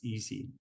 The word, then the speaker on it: EESSI: scientific software installations um the acronym is gamed a little bit right so the way we pronounce that is easy uh so the easy environment uh my name is